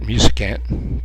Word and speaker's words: Musicant: Ball 3, so Hanna Frank falls behind Musicant, I believe I was told how you pronounce that, Musicant.